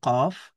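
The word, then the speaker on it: ق: এই কফ অক্ষরটা জিহবার গোড়া থেকে মোটা করে পড়তে হবে। এবং সবচেয়ে গুরুত্বপূর্ণ কথা হলো ফাতার উচ্চারণে আকার পড়া যাবে না। আমরা কফ ফাতহা কা বলতে পারবো না। ক বলতে হবে।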